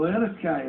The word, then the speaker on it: Eriskay: Oh, Eriskay, is that how it's pronounced? 2 or 3 houses and a football pitch.